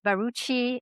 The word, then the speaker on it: Barucchi: It's Baruchi and we were trying to sort out how to pronounce my last name.